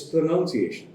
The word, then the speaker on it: pronunciation: the word pronunciation itself a lot of people say pronunciation or pronunciation no it's pronunciation that's it don't try and stress on any particular one syllable too much when you come down